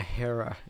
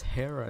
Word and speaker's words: Hera: I was like, it's Hera, not her.